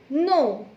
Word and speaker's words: know: Now next example is KNOW, no. KN plus OW. Now children, here also we make two sounds. But you have to remember that in KNOW, K is always silent.